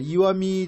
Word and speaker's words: 石見: 됩니다 이미도 마찬가지인데 어 바위 암자가 아니라 돌 석자를 쓰고이라고 읽었습니다 아 이와미 지역이 왜 초점을 받는